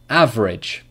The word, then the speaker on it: average: syllables family number five average average average two syllables number six restaurant restaurant